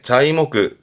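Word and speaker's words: 材木: 그게 자이모크 자이모크 거꾸로 쓰면 말 그대로 목재네요.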